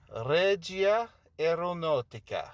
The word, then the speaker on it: Regia Aeronautica: Regia Aeronautica.